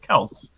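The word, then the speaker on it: Kelce: he's like yeah my my name is actually pronounced kels oh okay everybody nice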